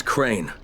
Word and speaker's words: Crane: no my name is crane crane crane rhymes with train and brain and sane and grain and rain and plane and the other kind